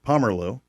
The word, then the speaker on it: Pomerleau: I say it right, Pomerleau. Correct. Did I say it all right? Oui. Wait, hang on. What language do you speak in there? It is French. That is French.